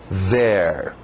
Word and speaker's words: there: Domina essa palavra, here, TH de zorba, there.